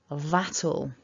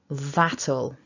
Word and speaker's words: that'll: by putting this together, by tagging on the ul, we then create a second syllable. So we've got 2 syllables in the contraction. So repeat after me nice and loud, that'll, that'll.